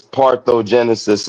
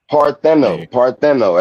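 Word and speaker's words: parthenogenesis: Got I think it's one of those things like everybody says parthogenesis and it's parthogen um it's partno. There's an N in there. Nobody ever pronounces the damn N. You know what I'm saying? Yes. Parttheno.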